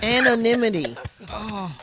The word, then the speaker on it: anonymity: Due to my uniquely curious leg structure and facial appearance, it's difficult to travel in anonymity as Gary with the T.